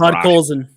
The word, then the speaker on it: Podkolzin: Yeah, it's Podkolzin. It's Russian. Vasily Podkolzin.